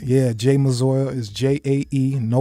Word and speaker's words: Jae Mazor: They can literally Google me and from Instagram Spell, to how you spell it? J-A? JAEMAZOR. So Again, just that's like how it sounds. yeah. Jay Mazor is JAE, no Y.